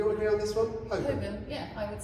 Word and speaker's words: Holborn: Holborn, excellent. Do we all agree on this one? Holborn, yeah, I would say Holborn, all right? Holborn. There's no Holborn.